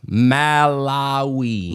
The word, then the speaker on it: Malawi: That's exactly how you say it. Malawi.